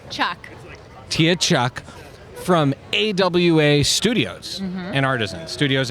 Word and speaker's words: Che: us Dolce Montoya Tia I didn't get the pronunciation of your last name Chuck Tia Chuck from AWA Studios and Artisans Studios